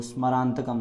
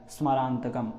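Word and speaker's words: स्मरान्तकम्: जो स्मरान्तकम शब्द है, बहुत लोग स्मरान्तकम इस प्रकार से बोलते हैं, तो प्रयास करिएगा केवल आधा सा ही उच्चारण में निकले। स्मरान्तकम इस प्रकार से ना निकले, स्मरान्तकम ऐसे निकले।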